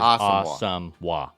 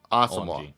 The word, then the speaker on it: Asamoah: It is Asamoah. Yep. Asamoah.